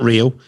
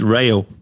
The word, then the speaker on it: Rail: to me he said it's not real as into duran duranson it's rail yep so i i'll